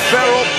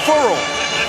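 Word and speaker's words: Ferrell: cleon farrell one of the big stars everybody's saying feral he was telling people just this week that he wanted his last name pronounced furl as in referral so that's what we'll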